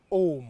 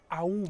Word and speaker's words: Aum: C'est souvent mal prononcé. Hm hm. Parce qu'on le prononce en disant oh. Hm. Alors qu'originellement c'est aou. Ahou.